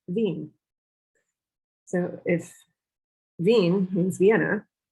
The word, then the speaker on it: Wien: so let's start with the german word for vienna which is veen so if veen means